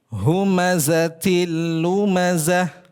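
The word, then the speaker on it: هُمَزَةٍ لُمَزَةٍ: Jadi jangan baca humazatin lumazah. Nah, itu ada penahanan di situ. Tidak boleh, tidak sah, tidak tepat bacanya. Jadi cukup hentak sekali saja. Humatil lumazah. Cukup seperti itu.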